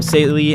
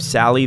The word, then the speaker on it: Sally: It might be because I was accidentally pronouncing her name sely instead of Sally this whole time.